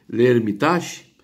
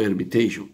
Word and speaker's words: Hermitage: A pronúncia pode ser esse essa palavra é uma palavra, na verdade de origem francesa. Pode ser Hermitage ou Hermitage, um pouquinho inglesada assim, mas ela é de origem francesa.